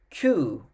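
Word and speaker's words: kyū: the eighth player hachi hachi ninth player is qu spell k y u u q and the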